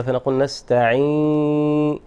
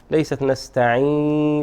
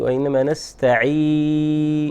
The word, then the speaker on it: نستعين: هذا هو المحذور، أن تصحب الغنة، فنقول نستعين، ليست نستعين وإنما نستعين. With a clear sound. نعم. without غنة. Without غنة. حرف المد يعني ينبغي أن يكون بدون الغنة.